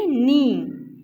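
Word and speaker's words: knee: जैसा कि के इसमें साइलेंट है तो के साउंड प्रोड्यूस नहीं कर रहा, नी। जैसा कि रेंगुलर, रेंगुलर में डब्ल्यू साइलेंट है तो इस तरह से इसमें के साइलेंट है, ठीक है।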